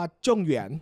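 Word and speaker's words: 状元: หงวน จริง ๆ อ่ะ คำ ว่า จอง หงวน หรือ ภาษา จีน กลาง อ่าน ว่า จง เหวน อ่ะ โอ้โห ยาก เลย จง เหวียน มัน มัน แปล ว่า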